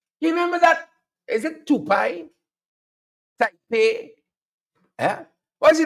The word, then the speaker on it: Tepui: Is it Tepui? Tepui? Yeah? What's the name of the company? Yeah? Break it up in a syllable for me. Tepui.